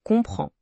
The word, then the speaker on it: comprends: Les difficultés ici sont le de suit, le e de désolé et le son nasal d'en comprend. Et n'oubliez pas que le s final de comprend est muet.